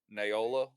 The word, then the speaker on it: Naola: will wait for y'all naola will train anybody uh she has some special ranger feats and she can train you in the ranger archetype right that's right rhymes with koala yeah uh the flaming